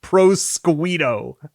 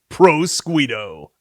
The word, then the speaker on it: Prosciutto: Prosciutto, but it would be pronounced Prosquito. Prosquito.